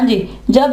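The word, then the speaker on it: judge: हाँ जी, जब ये इकट्ठे हों तो जीम की आवाज देगा और वहां पे डी जो है वो साइलेंट पड़ा जाएगा।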